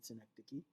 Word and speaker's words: synecdoche: devices used in poetry metonym and synecdoche is how they are pronounced metonymy and synecdoche and I'll be discussing